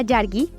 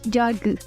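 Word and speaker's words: yargı: Si nosotros lo mencionamos, si la nombramos como si tuviera una I con puntito, sería yargi, mientras que cuando la pronunciamos con la I sin punto, debería de ser como yargi.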